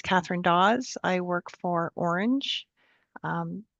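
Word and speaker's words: Ornge: I work for Orange. Um pronounced like the color orange.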